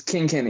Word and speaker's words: King Kenny: sure i say the name right king it's king kenny yeah that's how you pronounce it okay uh from missouri independent artist from missouri king kenny in the building yeah i'm from uh i'm